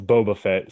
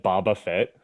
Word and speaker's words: Boba Fett: the hutt devin uh first of all it's boba fett second of all uh carbonite you just finished binging all of star wars and you said baba fett how do you pronounce